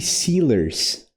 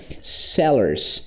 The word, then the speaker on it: sellers: E aí ele fala ice cream seers. Ele fala meio que seers. Sealers. Sinalers, né? O que que ele quis dizer foi isso aqui, né? Sellers.